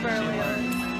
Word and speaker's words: Berlioz: It's Berlioz.